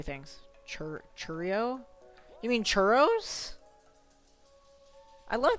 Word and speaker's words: churro: Well, like, I had, churros from the grocery store, too. It's churro, not churrio.